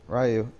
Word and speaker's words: Raiyu: Raiyu.